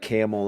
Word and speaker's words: Campbell: It must be like a silent N, sort of like Camel, Ohio, and it's spelled Campbell.